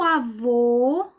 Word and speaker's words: avô: e recebe assento gráfico avô avó avô fechado avó aberto vamos ver um exemplo meu avô e minha avó se